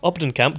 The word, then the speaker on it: Op den Kamp: Obden Kamp, Dr. Claudy Obden Kamp. Am I pronouncing that correctly? Mm-hmm. Yeah, good. Put this book together.